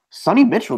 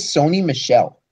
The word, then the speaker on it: Sony Michel: disrespect the man and mispronounce his name. His name is Sony Michel. His name is Sony Michel, but for all intents and purposes, it should be Sonny Mitchell.